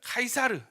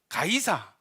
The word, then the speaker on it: 카이사르: 이제 나타나죠 누굽니까 시입니다 지금 이제 요새 영어발음으로 하면은 카이사르 가이사 성경에는 가이사 시저 율리우스 카이사르 이렇게 이야기를 하는데 카이사르가 언제죽냐 BC 44년에